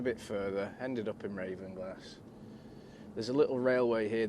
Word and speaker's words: Ravenglass: I'm currently in Ravenglass, or it would be Ravenglass, I think, the way to pronounce it properly for north.